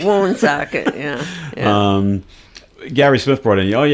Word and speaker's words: Woonsocket: I think we actually pronounce it wrong by saying Woonsocket. Yeah, it's Woonsocket. The people in South Dakota, they pronounce it correctly. Woonsocket, yeah.